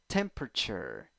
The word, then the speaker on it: temperature: cold cold number five eleven letters nine sounds three syllables stressed syllable the one the stressed syllable is the first one then a the third one also has some stress but it is the secondary stress first syllable a second syllable schwa third syllable you uh temperature temperature temperature